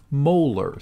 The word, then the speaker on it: molar: a molar so let me just write that out don't pronounce it as m or something like that it's pronounced 0.0500 molar